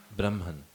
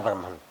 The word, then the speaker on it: Brahman: what is the similarity between the world and Brahman what is the similar between the world jagat and Brahman correct pronunciation or no problem go ahead I correct